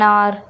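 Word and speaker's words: hour: कुछ H word होते हैं, मतलब जिसमें कुछ ऐसे वर्ड होते हैं जिसमें जो एच होता है वर्ड वो साइलेंट देखने को मिलता है, वहां पर हम एन का यूज करते हैं।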